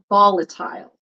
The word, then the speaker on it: volatile: I have to read volatile volatile and it's not Tail cuz I see tail it's tile like the eye is like a long eye I like the trick